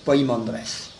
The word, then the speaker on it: Poimandres: P e mais enfin c'est plus facile de le prononcer avec poi P oi M a n D r e s poimandress parce que je crois